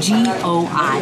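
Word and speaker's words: gỏi: G-O-I. That's how you spell it.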